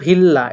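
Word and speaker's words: 빌라: apartment, আর এখানে দেখুন ভিল্লা, এটার উচ্চারণ আমরা করব ভ দিয়ে, বিয়োগটাকে আমরা ভ পড়ব, এই ভিল্লা বা বিল্লাও বলতে পারেন, ঠিক আছে, ব দিয়েও পড়তে পারেন, কিন্তু এটা ফ দিয়ে পড়বেন না, ঠিক আছে, কারণ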